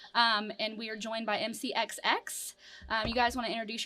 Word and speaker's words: MCXX: So, And so is it MCX or MCXX? Because I feel like. MCX. Oh, so The I last said MC. X is silent. Yeah. Like G in lasagna.